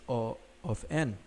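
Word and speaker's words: O(n): Some pronounce this as big O of n, others call it order of n. My personal preference, however, is O of n.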